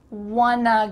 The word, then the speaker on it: wanna: And then what about wanna go? Wanna go. Want to go are all of the words, but you're gonna combine want and to become wanna. Wanna.